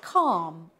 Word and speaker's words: calm: have other silent letters the L is silent in a word like calm or talk the r is silent